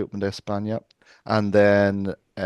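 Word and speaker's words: Open de España: Um make sure you pronounce it correctly. Open Espña.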